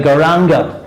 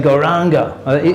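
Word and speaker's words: Gauranga: now i noticed that a lot of devotees they don't they don't actually pronounce that properly they say garanga i said goranga in australia they say garanga it's not ranga it's not ranga it's ango ango goldango it's oh the awakening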